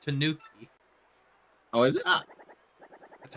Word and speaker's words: Tanuki: Yeah, it's pronounced Tanuki.